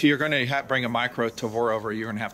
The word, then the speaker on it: Tavor: I saying it right he says Tabor I say Tavor I know either way Ted of atad oh